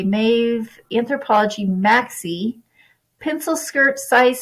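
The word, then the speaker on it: Maeve: still pick up this anthropology mave I believe that's how you pronounce it m AE V brand when I do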